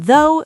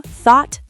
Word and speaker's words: though: Sometimes gh is completely silent like in though, through, thought, daughter, night, high. So though is just though and night is night.